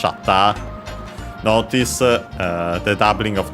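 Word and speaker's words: シャッター: Uh yeah, in this case of course of the camera and as expected is accent on the first syllable just like in English shata.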